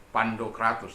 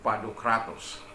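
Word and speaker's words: Pantokrator: Nah, seperti Pantokratos, itu bukan lagi Pandokratos, tapi Padokratos, ya.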